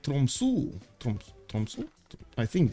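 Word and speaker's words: Tromsø: The O in Tromso is not pronounced as English O. It's more like a U. So it's Tromsu.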